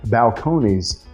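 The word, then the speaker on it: Balcones: because it is a Balcone True Blue. Now, there are people that pronounce that differently than I do. I say Balconees.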